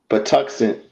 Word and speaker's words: Patuxent: I know that you continue to publish in various publications, such as please pronounce this. Is it Patuxent? Patuxent.